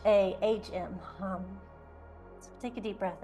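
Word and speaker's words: ham: the B manra for the throat Cher is hum h a m pronounced like h a hm hum so take a deep breath in open mouth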